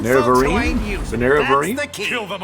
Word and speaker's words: Nerevarine: The Neravine. Man, I can't catch a break on pronunciation. The Nerevarine? Steal from folks who ain't using. The Nerevarine?